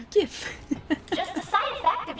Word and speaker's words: GIF: It's actually pronounced GIF.